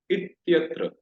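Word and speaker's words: इत्यत्र: So here if we pronounce it, we should pronounce it like ityatra, ityatra, ityatra. So this should be combinedly pronounced.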